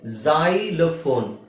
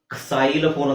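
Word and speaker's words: xylophone: ಇಲ್ಲಿ x ಅಂತ ಇದೆ ಇದನ್ನ z ಉಚ್ಚಾರಣೆ z ಉಚ್ಚಾರಣೆ ಏನು ಸೋ ಇದು ಜೈಲಫೋನ್ ಜೈಲಫೋನ್ ಅಂದ್ರೆ ಈಗ ಇಲ್ಲಿ x ಅಲ್ಲಿ ಸ್ಟಾರ್ಟಿಂಗ್ ಅಲ್ಲಿ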